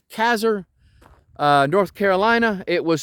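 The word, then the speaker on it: Casar: Campground in kazer I'm going to say it's kazer uh North Carolina it was supposed to actually be Caesar but the name was misspelled long long ago and now they just pronounce it kazer and so uh but other than that we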